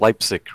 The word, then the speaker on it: Leipzig: to save their just a little so it's pronounced Leipzig right you know Germany yep yeah so we